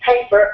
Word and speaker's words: paper: look at um paper how many syllables does paper have in it two two and which one is the stress syllable the first one right so so if